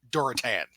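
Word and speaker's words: Durotan: So, in my defense, I am currently playing World of Warcraft, and they even pronounce it in game Gul'dan and Duratan. That's exactly how it's pronounced in game.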